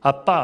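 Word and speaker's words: אבא: 사실 예수님께서 주기도문에서 부른 아람어의 원어는 아빠예요 우리하고 발음 똑같아요 인도에서도 아버지를 아빠라고 이렇게 하죠 애기들이 아빠 하는데 인도도 그런데 중동도 아빠 예 아바라 하는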